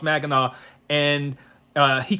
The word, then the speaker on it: Mackinac: up north called mackinac and he called it mackinac because that's how it's spelled but if you're from here you know it's pronounced magana and uh he called it mackinac and i was like and i thought it